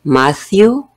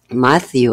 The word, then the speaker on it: Matthew: matthew tree lifting seventeen matthew es mateo y vemos la otra vez la combinación de la tela h pero decimos matthew sabemos que si se pronuncia la t también no tan fuerte no decimos matthew vacío